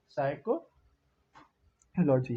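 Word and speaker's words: psychology: यहाँ पर पी लिखा है तो इसे डाउट मत होना है, पी साइलेंट रहता है, तो ये साइकोलॉजी है।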